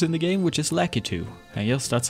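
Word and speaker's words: Lakitu: more random characters in the game which is lackey two and yes that's how i pronounce it some pronouncing lucky two but i say lackey too i really like his regular tricks but his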